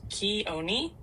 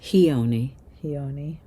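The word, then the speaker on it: Chione: Keon, the Greek goddess of snow, is usually pronounced Koni phonetically, Koni. It has three syllables with the stress on the middle one.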